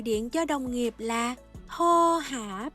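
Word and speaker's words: โทรหา: Chữ thô này là từ bất quy tắc nha, vì nó có chữ ro rưa nhưng không được phát âm âm r.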